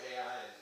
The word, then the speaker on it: Ai: went to, they destroyed Ai and that sort of thing, or Ai is how it's actually pronounced. Pronounced I, by the way.